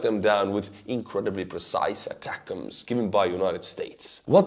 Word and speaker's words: ATACMS: States long-range Atacms, as you said, I should pronounce it, long-range Atacms, which have the range of 150 kilometers, and they are also clusters.